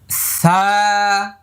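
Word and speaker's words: ث: সা, এক আলিফ লম্বা হবে। তারপর এটার মাখরাজ নম্বর কত? 13। জিহ্বার আগা এই দুই দাঁতের আগা।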